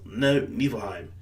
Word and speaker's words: Nibelheim: The one thing that always confuses me, in the game is spelled Nibelheim, but it's supposed to be pronounced Nibelheim. Nibelheim.